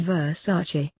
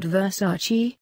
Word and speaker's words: Versace: in the backyard Versace as she explains it's pronounced Versace not Versace takes a seat in one of the two